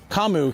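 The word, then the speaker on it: 噛む: But when they write it in English and they spell it instead of kamu k a m u they wrote c u m.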